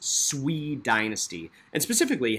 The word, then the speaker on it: Sui: the swede now i know that looks like sui it's pronounced swede dynasty and specifically how did they reunify or